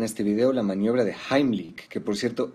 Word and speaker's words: Heimlich: vídeo la maniobra de jaimilk que por cierto esa es la pronunciación correcta porque está en alemán la mayoría dice heimlich pero bueno se entiende